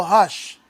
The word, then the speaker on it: Roque: right he's brazilian right so what is r in portuguese i couldn't tell you h h voice gracie right spacey so if you pronounce it in portuguese he'd be leo hush oh yeah yeah i'm